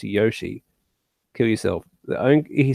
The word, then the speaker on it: Yoshi: They'll probably just do Yoshi. I'm gonna get shit for saying that. It's Yoshi, it's Yoshi. The fucking character, Yoshi, says his own name and he pronounces it Yoshi.